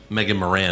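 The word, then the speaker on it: Morant: head wow i had megan morvant more van gaal yeah i had dominic's mullet holy am i saying it wrong yeah what there's no v megan moran oh moran yeah morvant well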